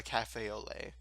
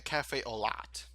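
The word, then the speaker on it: café au lait: a cafe au lait, they call it a cafe au lat because it's spelled L-A-I-T. Some people call it late, some people call it lat. It's lait. Cafe au lait. It's very French sounding, and it is French.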